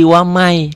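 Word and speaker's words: وَمَن: yabbagi tulisannya waman waman ditulisnya waman dibacanya Jadi wamai kenapa idgham nih karena nun mati bertemu dengan ia nun mati bertemu dengan Iya waman jadi pertanyaannya waman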